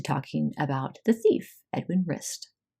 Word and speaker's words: Rist: Next, we're going to move into talking about the thief, Edwin Rist. Wrist is connected to the elbow bone. Pronounced the same.